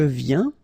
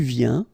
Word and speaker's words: viens: So at the present tense, it's je viens, tu viens, il vient, elle vient, nous venons, vous venez, ils viennent, elles viennent. All right, so let's see that one more time. Je viens, final S not pronounced, okay?